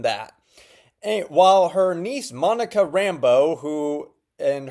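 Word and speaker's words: Rambeau: while her niece Monica Rambo who and her last name is spelled b eao and not you know Rambo which would have been a lot cooler but you know names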